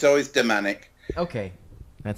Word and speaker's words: Damanek: what you like okay because I've always heard Domanick because we had seen we had met up